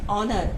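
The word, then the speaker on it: honour: ऑनर, ऑनर, तो अ के आगे भी एन लगाएंगे।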